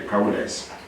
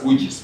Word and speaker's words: Koudijs: But we settled at the cow dice. Here you pronounce as kujis, but in other lands it's called cow dice. Now, Koudijs. Koudijs. That is cow dice, but here we pronounce kujis.